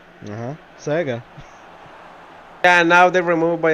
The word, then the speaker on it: Sega: Sega, or as retards call it, Seagar.